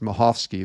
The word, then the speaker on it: Michalski: So it looks like Michalski, but he told me it's actually pronounced Michalski. The C is silent.